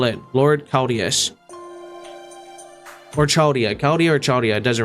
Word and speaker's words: Chaldea: The CH is like a K, so Chaldea.